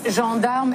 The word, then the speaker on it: gendarme: The French Interior Minister, Bernard Cazeneuve, says that 115,000 police, gendarmes, and soldiers... Gendarme. Make sure you pronounce it right.